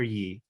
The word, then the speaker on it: Ye: pronouncing your name correctly do you prefer yay or Yi I apologize either one is fine okay um yay has